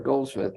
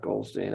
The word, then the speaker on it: Goldsmith: Oh, by the way, it's Sierra Goldsmith, not Goldstein. I mispronounced that.